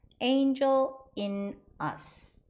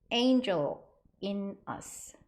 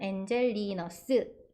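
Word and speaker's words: Angel-in-us: 스 스 약간 이렇게 들려요 하지만 영어식 발음은 Angel in us Angel in us Angel in us 이거예요 천천히 바음 두 번 해 보실까요 Angel in us Angel in us 잘하셨습니다 한국식 발음은 엔젤리너스 요렇게 돼 있다는 거 기억하세요 다음은 카페 파스쿠치이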